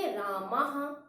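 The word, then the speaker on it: रामः: और विसर्ग का उच्चारण हा की तरह होता है। जैसे राम शब्द है, मां में हम विसर्ग लगा देंगे तो उसे हम बोलेंगे रामाह।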